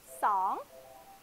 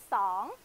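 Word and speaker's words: สอง: 那泰文的二，它的发音是怎么发音呢？爽，爽，爽，嘴巴要大起来哦，爽，嗯，很棒。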